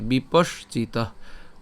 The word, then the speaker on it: বিপশ্চিত: এরপর বিপশ্চিত, বিপশ্চিত, অর্থাৎ আমরা এই বিপস তালব্য পর্যন্ত উচ্চারণ করে তারপরে হচ্ছে চিত উচ্চারণ করছি, বিপশ্চিত, ঠিক আছে।